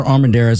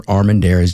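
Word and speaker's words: Armendariz: Um, you can find me Armanderees all over the place. Armanderez, just spell it correct.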